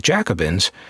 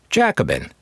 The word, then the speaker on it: Jacobin: Now, I'm not going to go into what I learned about the Jacobins, except to say that I learned the right way to pronounce it, Jacobin, not Jacobin.